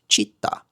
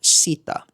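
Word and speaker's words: citta: Take the letter C for example, the C is pronounced ch as in chair. So when I say the word mind, it would be pronounced chitta, not sitta.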